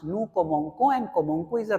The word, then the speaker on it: commençons: Okay, the correct pronunciation is, if you add this cons, it will be like nous commençons. And if you don't add this small s here, cedilla, then it is going to be nous commençons, and that is a wrong pronunciation, and that is breaking the pattern.